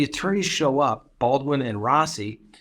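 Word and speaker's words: Rozzi: Andrew Baldwin and brand i r Oz zi I guess he pronounces it Rossi you know it's a z really anyway the judge ordered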